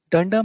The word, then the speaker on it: dunder: to our slide for more details python thunders dunder method name is a common pronunciation for python's built-in method name that starts